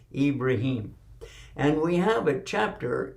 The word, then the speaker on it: Ibrahim: and his name is ibrahim and in arabic that is the way you pronounce it in english we say abraham but is no real ham in his name it's ibrahim and we have a